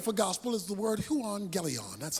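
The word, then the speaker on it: εὐαγγέλιον: the greek word for gospel is the word juan galleon that's how it's pronounced huon galeon is simply translated good news so i got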